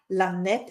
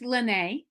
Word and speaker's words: L'Annett: It's Lene. So I pronounce it as a French, Lene with the apostrophe. So Lene.